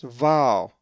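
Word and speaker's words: Βάαλ: A Greek word that has the uppercase veeta is val, which is the name Baal, and is number 896. Well, you will notice that the accent is over the first alpha, so it is pronounced val.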